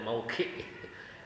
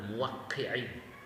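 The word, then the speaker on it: موقّع: Dia menerjemahkannya bacanya mauki. Padahal muwakki ar-rabbil alamin. Cara baca udah lain. Nah, kalau dia memahami dari judulnya kitab Ibnul Qayyim saja, I'lamul Muwaqqi'in, bukan I'lamul Mauqi'in kan ya.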